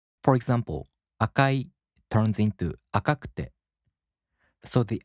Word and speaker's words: 赤く: In the flat type, there's no accent. For example, 赤い turns into 赤く. As I said, there's no accent. 赤く.